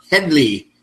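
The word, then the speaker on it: Hedley: First off, I can hear Harvey Korman scream, "It's Headley."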